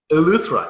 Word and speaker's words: Eleuthera: And according to Wikipedia, on October 22nd, 2014, she completed an unprecedented swim from I can't even pronounce it, South Victoria? Eleuthera. Eleuthera, thank you, Yeah.